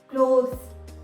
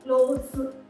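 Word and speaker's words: clothes: तो जब हम इसके आगे ES लगाते हैं तो वो हो जाएगा क्लोथ्स, ज आएगा लास्ट में, क्लोथ्स, स नहीं, क्लोथ्स, क्लोथ्स।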